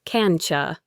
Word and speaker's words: can't you: Can't you becomes cancha.